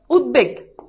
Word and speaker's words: উদ্বেগ: করে দেখো আমি লিখলাম উদ্বেগ এই যে দেখো এখানে বফলার উচ্চারণ আছে এখন তুমি উচ্চারণ লিখো উদ এরপর হচ্ছে কি বেগ উদ্বেগ শেষ এরকম অনেক বানান উদ্বিগ্ন